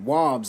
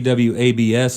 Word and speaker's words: Wabs: website it said uh wobs like mob that's right yeah well because a lot of people see w-abs and they'll pronounce it